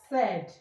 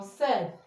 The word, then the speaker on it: said: Letter A I as in as in um said or said.